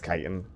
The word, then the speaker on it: chitin: the chit chatin chitin isn't it pronounced chitt is it kitan I can't remember kitan right okay it's kitan I knew that tiitan